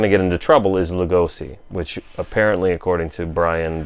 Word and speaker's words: Lugosi: But where we're going to get into trouble is Lugosi, which apparently, according to Brian Bela Schoenberg, or whatever his name is, should be pronounced Lugosi. Lugosi. Well, Lugosi. Nobody fucking does that, and neither Bela are we.